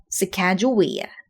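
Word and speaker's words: Sacagawea: Sakajouia.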